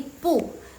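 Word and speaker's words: 不: ya By the way Jadi kalau misalnya belakangnya pu itu dia nada keempat jadi yang pu itu yang pu itu dia berubah jadi nada kedua jadi bacanya pu nada kedua ya guys belakangnya jangan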